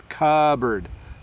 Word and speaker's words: cupboard: So cupboard, we don't say the P. So you can just take in your mind, just don't worry about the P in cupboard. So it's cupboard.